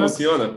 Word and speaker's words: Impulsiona: That's a very good Portuguese pronunciation, yeah. Is that? That's Impulsiona? Good. Impulsiona, perfect.